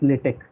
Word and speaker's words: LaTeX: supports lat latex command all right it's not latex I'm mispronouncing it it's latch all right so I'll just change it to